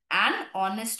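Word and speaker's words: honest: আমরা আওয়াজটা শুনে বসাই যেমন অনেস্ট যেহেতু এইটা সাইলেন্ট অনেস্ট ম্যান অনেস্ট ও এর উচ্চারণ হচ্ছে সেইজন্য এন হল ইউ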